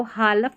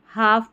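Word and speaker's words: half: इसको हालफ नहीं पढ़ते। हाफ पढ़ते हैं। एल साइलेंट है।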